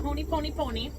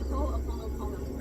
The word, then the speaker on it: Ho'oponopono: I call it the Honey Pony Pony, but it's the, how do you say that again? The Ho'oponopono.